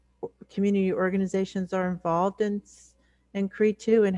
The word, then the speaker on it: CRE2: So we've been trying ever since then to help everyone kind of partner with us in calling it CRE2, but it's hard because we were CRE2 or Cree for so long.